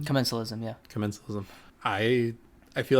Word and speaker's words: commensalism: Commensalism? Commensalism, yeah.